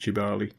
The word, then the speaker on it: Kibale: in Africa where we go chimpanzee tracking in tubali Forest yes I know it's built k-i-b-a-l-e but it's pronounced jubali I got up early and went and sat